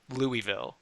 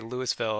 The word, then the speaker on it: Louisville: I used to say Louisville and they were like, no, it's Louisville.